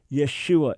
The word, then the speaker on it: Yeshua: It is Yeshua.